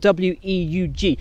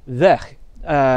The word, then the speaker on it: Weug: It's spelled W-E-U-G, but as she's Dutch, it's not pronounced Weug. It is instead Weg.